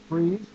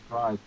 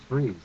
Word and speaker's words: Fries: in mixed martial arts my name is chris price freeze like you know it's a habit now i'm so often now i'm slating uh or saying my name in voiceover auditions as chris prize that i i have no longer chris freeze i have metamorphosized into the sellout that i have become yeah just a [